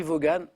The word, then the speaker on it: Vaughan: Oui, ça s'écrit Vaughan.